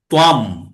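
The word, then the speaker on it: ত্বাং: এই যে আমরা তাং মাং বলছি না, ওই যেগুলো ত্বাম, ম উচ্চারণ হবে, হ্যাঁ, অনুস্বরটা এখানে, এখানে অনুস্বরটা অং না হয়ে ম উচ্চারণ হবে, ত্বাম, হ্যাঁ, ত্বাম ত্বং।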